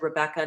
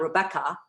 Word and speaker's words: Rebecca: In English, my name is said Rebecca, not Rebecca. So the guide takes us